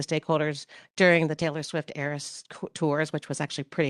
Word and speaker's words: ARIS: during the Taylor Swift ARIS tours, which was actually pretty hilarious. Uh people say, "How do you pronounce that?" Just think Taylor Swift and you're all set.